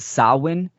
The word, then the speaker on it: Samhain: So the most, I would say, somewhat common that people understand is the Celtic festival of Samhain, Samhain, pronounced Samhain. This is a Gaelic tradition, right, from the ancient Druids as well.